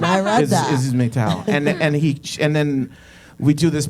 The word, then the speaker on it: Meytal: You know what's funny is everybody mispronounces it as metal.